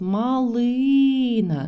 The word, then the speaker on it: малина: а друге мілина мілина тут у нас був наголос малина на другому складі а в наступному складі